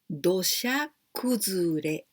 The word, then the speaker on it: 土砂崩れ: Because 土, the first one, we say 土. Here we pronounce do, but 土, it means the land. And the second one, here we pronounce sha, but this is also suna. Suna, this is the sand. Sand in the beach, the sand.